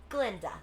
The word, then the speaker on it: Glinda: And you must be Glinda. The guy is silent.